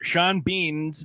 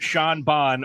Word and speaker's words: Sean Bean: both ways just remember sean bean's name is not pronounced sean bonne or seen bean just remember that the